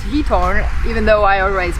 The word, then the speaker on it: Giethoorn: Apparently it's pronounced Giethoorn, even though I always pronounce Giethoorn or Giethoorn, I don't know.